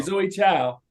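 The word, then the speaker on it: Chloé Zhao: chance with with uh Zoe how do you pronounce the name Zoe Zoe Town Zoe ciao okay Zoe ciao the tone of that film and the amount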